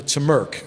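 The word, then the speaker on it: TMRC: Railroad Club uh the members called the T Merk is the way they pronounce the acronym there and uh if you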